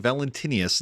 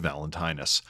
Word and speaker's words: Valentinus: Ben Bendlow, Oracle of Pook, saying Valentinius instead of Valentinus.